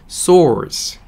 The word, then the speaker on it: source: 근데 이거는요, S-O-U-R-C예요. 그래서 source 라고 발음이 납니다. R 발음 들어가 있고요.